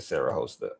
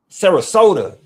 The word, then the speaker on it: Sarasota: I'm definitely saying Sarah Hosta. I think I'm saying it right. Let me see. Pronounce Sarasota. Sarasota like soda. Oh, I can get that. Sarasota, not Sarah Hosta.